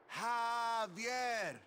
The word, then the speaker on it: Javier: Javier, it's pronounced like an H. Javier.